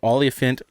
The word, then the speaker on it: olefiant: also called ethene or olefiant gas. Olefiant rhymes with elephant, and we're talking about high BMI.